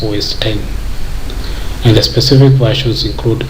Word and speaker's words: OS X: versions are known as OS X pronounced as OS 10 and the specific versions